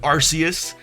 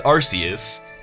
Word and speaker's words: Arceus: me calling it Arceus, the verdict of the official pronunciation is that both are right because they made it as Arceus, and then because of Arce, they didn't want you saying Arce with it, they changed it to Arceus/Arceus, but it's Arceus.